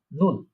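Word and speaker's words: null: শূন্য মানে হচ্ছে কি, নুল। এটাকে ডয়েচে বলা হয়, জার্মানে বলা হচ্ছে নুল। নুল, আমি উচ্চারণগুলো আপনাদের সুবিধার্থে, আপনারা যাতে উচ্চারণ প্রনাউন্সিয়েশন করতে পারেন, তাই আমি ডান দিকে লিখে রেখেছি।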